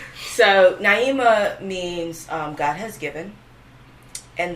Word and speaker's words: Naima: so I really just said no it's pronounced Naima you know you never